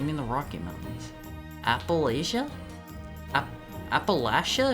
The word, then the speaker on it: Appalachia: Appalachia if you pronounce it phonetically. Appalachia. Southerners say Appalachia like right back at you. Appalachia. It's it's it's Appalachian, right? No. like latch.